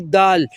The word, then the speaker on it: د: We are starting from the dal, the dark green. It's dal. Okay. D-A-A-L. Dal. Which pronouncing place of dal? Tip of your tongue, touch upper middle to taste tips.